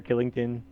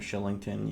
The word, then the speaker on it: Kylington: It's spelled Kylington, and it's pronounced Shillington.